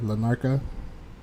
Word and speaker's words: Larnaca: Did I pronounce that right? Yeah, Lanarka.